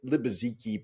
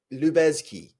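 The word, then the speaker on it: Lubezki: um, it could be I've always said Libaziki, but I think that's wrong now looking at it. Like, you know, Lubeski. Okay. Um, Lubeski. Let's say Lubeski.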